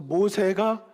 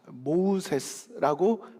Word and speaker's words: 모세: 그래서 모세가 애굽식의 이름으로 하면 그 뜻이 무엇이라고 했습니까? 물에서 건져냄을 받은 자, 모우세스라고 발음이 된다고 합니다. 그런데 이것이 히브리식으로 발음을 하게 되면 모세가 되고 그 뜻은 건져내는 자가 된다는 것이었습니다.